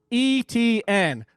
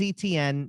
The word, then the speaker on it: Etienne: Jake, where it is Etienne, but I always think of shrimp etouffee, right. And well, and I already said that French, if it's the Cajun pronunciation, it's actually Etienne.